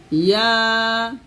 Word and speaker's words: ইয়াসিন: তো আপনারা যারা আরবি কম পারেন, এখানে বাংলা উচ্চারণ দেখে দেখে সুন্দর করে আপনারা এই সূরা ইয়াসিনটা শুদ্ধ করতে পারবেন।